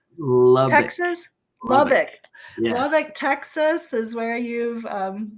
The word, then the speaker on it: Lubbock: are I I don't know if I can pronounce where you are from did you say luddick Texas Lubbock Lubbock Texas is where you've been involved in